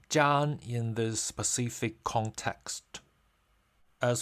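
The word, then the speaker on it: 粘: In this context, the character Zhan is pronounced in the first tone.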